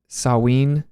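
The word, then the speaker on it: Samhain: it is it's like saween uh s-a-m-h-a-i-n is pronounced saween I think yeah I never got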